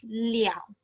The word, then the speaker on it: 了: Okay, so this word le have two pronunciation. One is le and another one is liao.